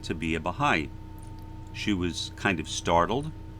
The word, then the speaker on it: Baha'i: to be a Baha'i although I believe I mispronounced it it said something like the heyy or something like that but I said I would like to be a Baha'i she was kind of